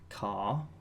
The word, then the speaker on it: char: Next we have a char, or I've heard it pronounced as car, that represents a character.